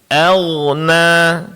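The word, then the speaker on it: أغنى: Agna. Coba Bapak agna jangan pula diqqalqakan agna ya tapi agna ma agna ma agna nam jadi pengucapan huruf ghain di sini ditebalkan karena dia huruf istilah ya narun data na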